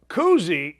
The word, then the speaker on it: Kuhse: Tommy Kuhse, it's not Bob Cousy's son. It's not Bob Cousy's grandson. It's spelled like Kushe.